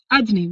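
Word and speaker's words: אדני: And the answer is, well, in this world, we read his name, Yud Kei Vav Kei, in one way, but we pronounce it in a different way, right? Adni, we say the word Adni, the name Adni.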